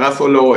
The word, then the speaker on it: Garofalo: you pronounce it perfectly like a European like a European should pronounce an Italian name well done yeah thank